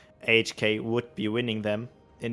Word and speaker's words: AHK: You're saying the name wrong all the time. No, I did say AHK. HAK, you said once again.